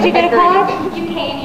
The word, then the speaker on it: Duquesne: Girl: Duquesne University. (pronounced Doo-cane) And I was classically trained, But I love musical theatre, And I'm exploring Where I might go...